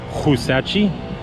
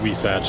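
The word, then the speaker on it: Huisache: out we satch grill it's h-u-i-s-a-c-h-e so it's like husachi but it's actually pronounced we satch i know we do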